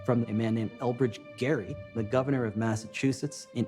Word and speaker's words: Gerry: wrong to notice that the jerry in gerrymander refers to a guy whose name was actually pronounced gary because literally everything about